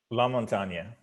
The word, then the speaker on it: LaMontagne: or is it lamontagne la montagna okay so so you went with the french pronunciation there which which gives you